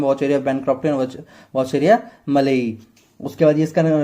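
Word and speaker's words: malayi: वॉचेरिया में भी दो स्पीसीज है, वॉचेरिया बैनक्रॉफ्टी और वॉचेरिया मेलाई, जैसे भी बोलना है, मलाई तो नहीं होगा, जैसे आपको प्रोनाउंसिएट इसको करना है, मेलाई, ठीक है।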